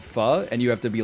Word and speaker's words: pho: rich in cilantro they go Oh you mean faux and then you have to be the snob who is like well actually it's pronounced fa so I said I'm sidestepping that